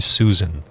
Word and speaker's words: Susan: ou mateus e suzana novamente a pronúncia correta é navio e susan e aí márcio vai